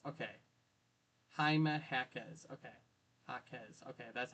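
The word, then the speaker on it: Jaime Jaquez: You know, Haime Hackz. Okay. Haime Hackz.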